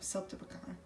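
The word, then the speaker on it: siltepecana: No, Celtibacana.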